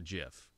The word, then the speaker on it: GIF: it's just a gif is it a gift for a jiff its graphic so it's its gift because it stands for graphics oh so it's good